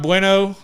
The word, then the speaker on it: Bueno: a big thing Brock bueno I mean it's not bueno like Spanish but that's just how you pronounce it I was listening to